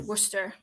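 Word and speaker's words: Worcester: a good idea to spell it like Worchester and pronounce it Worster like maybe there is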